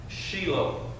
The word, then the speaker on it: Shiloh: means tranquil okay in the Hebrew it is pronounced Sheila that y'all remember hearing David say Sheila right